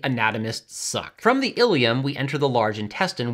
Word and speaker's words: ileum: a section called the ileum. For those familiar with skeletal anatomy, I'm sorry, it's pronounced the same as your pelvic bone, but spelled differently, anatomists suck. From the ileum, we enter the large